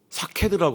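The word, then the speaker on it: שקד: 살구나무라는 이 발음이 이스라엘 말로 사케드라고 한다는데 그 말이 확실하다.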